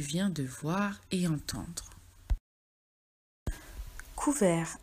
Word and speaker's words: couvert: Couvert. Attention, il y a un T muet à la fin du mot.